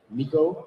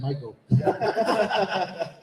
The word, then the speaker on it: Miko: case you don't know who this is, it's Miko Hughes. Yes, sir. Did I pronounce it right? Yes, you did. Yeah. Wow. No, you nailed it. Good thing you said, because I was going to say Michael.